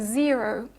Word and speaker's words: zero: but not always okay if you think of a word like zero for instance so in zero the first syllable is stressed so that is the syllable which has the E vowel the second is not okay so the the syllable that has the O vowel is not stressed but as you can hear when I pronounce a word zero the O Vel is not reduced even though it's not stressed so you need to